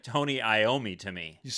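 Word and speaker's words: Iommi: I was going to ask you and I met I mean, it looks like Tony Iomi to me.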